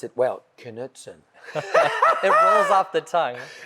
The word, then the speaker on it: Knutson: And I know how to pronounce it well, Knutson.